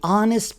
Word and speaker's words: honest: The honest plumber wrote a receipt. The silent letters are H in honest, B in plumber, W in wrote, and the P in receipt.